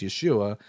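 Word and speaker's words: ישוע: Now, as we just discussed a couple of days ago, everyone, the name of Jesus in Hebrew is Yeshua, and it's spelled yud shin vavin.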